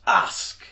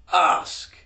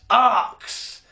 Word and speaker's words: ask: And that word, if you're raised like me, is pronounced ask. Or if you're raised posh, ask. But it is never, I repeat, never pronounced arcs.